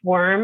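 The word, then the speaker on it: WHORM: Um and I think that the fact that it is pronounced worm and it sort of, you know, reads that way on the page adds to the humor.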